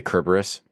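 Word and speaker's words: Cerberus: Did I say Kerburus? Yeah. Yeah. See, sorry. I got that I got that Latin hard C and that Tolken hard C in there. There you go.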